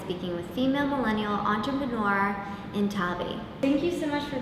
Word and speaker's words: Nthabi: Today we're in Cape Town, South Africa, speaking with female millennial entrepreneur Nthabi. Thank you so much for being on the F Show, Nthabi. Yes. Did I pronounce that properly?